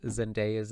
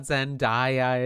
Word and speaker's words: Zendaya: So I'm going to try my best to pronounce Zendaya's name properly this time because in my last video that I did of them, people were like, it's not Zendaya, it's Zendaya.